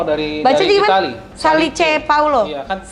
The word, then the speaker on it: Salice Paolo: Salice Paulo. Iya, kan kalau- Salice Paulo. Iya, kan kalau tulisan Itali bacanya sama kita sama bacanya.